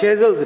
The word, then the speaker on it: Shazeal: As always, for your wonderful insight into Shezel's life. Shezel's life. Shezel नहीं होता, Shezel होता है. Shezel. आपने नाम सही प्रोनाउंस किया?